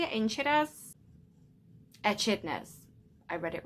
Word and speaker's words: echidnas: is that how you say it in chidas echidnas i read it wrong i was doing so well like the niffler uses its snout to find precious gems it's precious shiny gems the short beaks echidnas use their lungs now to find their insect